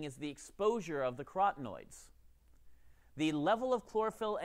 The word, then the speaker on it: carotenoid: But for carotenoids, you can think of it as carotenoids because they are orange like carrots.